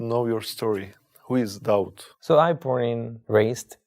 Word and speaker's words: Daud: it was David just I changed the pronunciation David to doubt David and doubt is the same person yeah right it's a